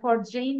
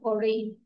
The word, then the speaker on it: foreign: আর একটা ফরজেইন না ফরেইন, এফ আর ই আই জি এন, জির উচ্চারণ হবে না, ফরেইন। ঠিক আছে, ফরেইন।